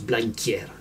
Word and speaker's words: Blanquer: Et clairement, Blanquer, c'est ce mot-là et ça se prononce Blanquier.